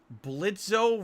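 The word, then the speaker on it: Blitzø: the hell is this blitzo versus Grandpa 2.3 million views from nine days ago I have no idea what I'm watching hi my name is Blitz the O is silent of course I'm sure under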